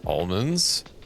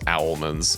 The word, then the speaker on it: almonds: So, what it bugs me uh this one factorial creator that does videos, I enjoy his content, but he pronounces almonds owlmans and I I hate it.